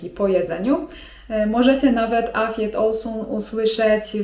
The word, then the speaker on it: afiyet olsun: I nie zdziwcie się jeżeli w odpowiedzi na ten zwrot usłyszycie: afiyet olsun (czyt. afjet olsun) To oznacza 'smacznego'.